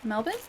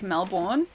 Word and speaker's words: Melbourne: couldn't reach his tail how do you pronounce melbour melbour Mel Melbourne like that Melbourne um I know a lot of like my American friends would like automatically call it like Melbourne but no it's it's very much Melbourne U Manis